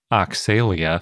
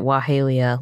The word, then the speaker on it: Oxalaia: We also have Dinosaur of the Day, Oxalaia, which we usually pronounce Oxalaia. I think I pronounced it Wahalia last time, and that was also wrong. So we're all over the map on the pronunciation of this one.